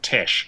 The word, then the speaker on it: Tesh: with a surname like Tesh yeah it's like it should be spelled te e c h but you know pronounced Tesh cuz he's like all classy